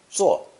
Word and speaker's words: 坐: It's pronounced fourth tone, 坐,坐.